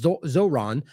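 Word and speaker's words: Zohran: the Colorado attack from Zorhan Zoron how do you say that it's Zoron prior to this one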